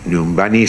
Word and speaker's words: Nyumbani: Nyumbani se escribe igual que se lee, pero la primera I es una Y y la última una I latina.